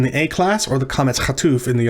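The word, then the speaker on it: קָמַץ חָטוּף: So recall that the A class vowel that looks like this is called kametz, and it's pronounced ah. But in the O class, it's pronounced o.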